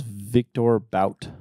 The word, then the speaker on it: Victor Bout: Anyway, they were talking about this guy's name was Victor Bout. Yes. I think it's like pronounced like Boat or something.